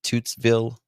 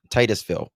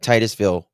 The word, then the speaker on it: Titusville: She is 18-year-old high school senior from how do you pronounce it? Is it Tootszville? I always mess it up. Florida. Titusville. Why do I say I'm thinking of Texas for some reason? Sorry. Uh, Titusville, Florida.